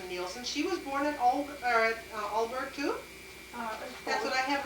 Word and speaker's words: Aalborg: Aalborg. And then Laura But that's Anderson. Denmark too, though, remember? Oh, how about, yeah, I got that. But Laura Anderson Nielsen, she was born at Aalborg too?